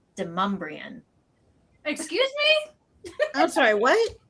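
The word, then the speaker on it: Demonbreun: There's a street that would be pronounced Demon Braun, but here it's Demumbrian.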